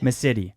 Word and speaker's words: Massitti: Massitti.